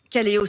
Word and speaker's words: Kaleo: et asbel point b kaleo s'écrit avec un cas comme ça se prononce le goodwill aux moines